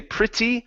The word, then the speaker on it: pretty: that word is pre you can say pretty or pretty pretty uh pretty you can pronounce the t's as a normal tea or you can pronounce them as a flap T saying pretty pretty yeah like that good